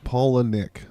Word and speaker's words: Palahniuk: Apparently, Chuck Palahniuk pronounces his own last name Paula Nick, like the name Paula and the name Nick.